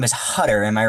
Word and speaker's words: Hutter: I thought his name was Gutter for the longest time because the font they used to say his name and then where they used narration was really weird.